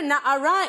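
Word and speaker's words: נערה: about in my office, the word na'ara is only pronounced that way because of the vowel at the end of the word.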